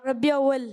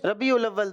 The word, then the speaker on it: ربیع الاول: ربیع اول۔ ربیع الاول۔ دوبارہ آگے مائک دیں۔ ربیع اول۔ ربیع اول، ربیع اول۔ ربیع الاول، اس کا جو درست تلفظ ہے وہ ربیع الاول ہے۔ پیچھے مائک دیں ذرا،